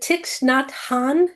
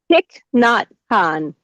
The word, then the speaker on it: Thich Nhat Hanh: The requests are for is it Tix Nhat Hanh? Did I say it right or not? Thich Nhat Hanh.